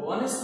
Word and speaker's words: honest: This is the picture of a hotel, and this is an honest man. You know, here H is not pronounced. Here H is silent.